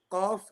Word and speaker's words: Qaf: Okay, so Qaf, this is where the right at the back of the tongue, the furthest part, yeah, near the upper soft palate, okay, the al-hanak al-lahmi, the meaty, the beefy part of your palate, and the back of your tongue, okay.